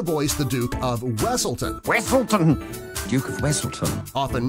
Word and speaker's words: Wesselton: Wesselton! Duke of Wesselton. Often mispronounced Weaselton in Frozen.